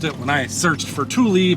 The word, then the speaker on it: Tule: I'm pronouncing it that way because that's how Google pronounced it when I searched for Tule pronunciation. Google pronounced it Tule. Tule.